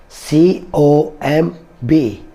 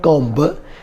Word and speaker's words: comb: subtle fifth word is c o m b comb this is not comp b is also silent here and we should call